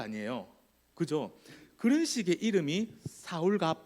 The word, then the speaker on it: 사울: 사울은 이제 알겠어요 그죠 사울 사울은 알겠어요 사울이 이제요 뒤에 가면 자연스럽게 한 14장쯤에 가면 사울 바울 그러더니 어느 날부터 바울로 이야기하기 시작합니다 사울은 히브리식 발음이고요 바울은 헬라식 발음 발음입니다 그런 거 있죠